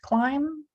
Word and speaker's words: climb: right you try again silent B and word climb Mike climbed the bike